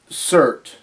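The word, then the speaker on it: Surtr: And a demon named Surt, and it's written S-U-R-T-R, but the last R, I guess, is silent.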